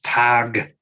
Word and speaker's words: Tyger: So instead of Tiger, it's Tiger.